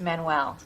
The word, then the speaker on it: Manuel: That's pronounced Manuel.